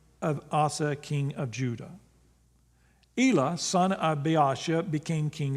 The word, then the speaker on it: Elah: That's how I pronounce it, E-L-A-H, Elah.